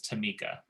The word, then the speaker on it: Tamika: And her Tamika, that's how you say her name, is Tamika.